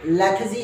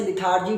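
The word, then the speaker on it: lethargy: इसे आप लेथजी भी कह सकते हो, इसका करेक्ट प्रोनाउंसिएशन लेथजी है, लेकिन बहुत जगहों पर इसे लिथार्जी भी कहा जाता है, लिथार्जी भी कहा जाता है। आर को साइलेंट रखा जाता है, नॉर्मली आर को साइलेंट रखते हैं।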